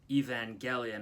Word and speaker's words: Evangelion: fan of the show he told me it's a hard G Evangelion I don't know to trust him or not like I don't know where he's getting that from but that's what he said he also told me